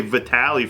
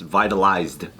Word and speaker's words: Vitaly: Oh, so it's past tense, vitalized. Yeah. How do you say that shit? He's like, everyone knows it's Vitaly, and I was like, I didn't know that, brother.